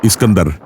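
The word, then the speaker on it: Iskandar: Alexander എന്നതിന്റെ Persian ഉച്ചാരണമാണ് ഇസ്കന്ദർ.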